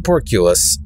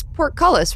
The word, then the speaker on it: portcullis: porculus and uh you I mispronounced the words seven years ago and we're still doing it I don't know but I love doubling down on it I just love it yeah it's portcullis right or it's pork it's